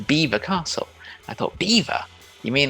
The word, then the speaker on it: Belvoir: dam in the river beaver but we're going to belvoir i could not get the two together but belvoir because it's french would not have been pronounced belvoir necessarily it's personally not by english people listening to french speakers so over time the english pronunciation was like a bad impression of the french and we find that